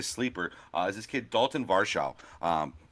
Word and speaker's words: Varsho: And then a kid who I think is going to be a sleeper is this kid, Dalton Varsho. Varsho, I'm sorry, is the way I should say his name.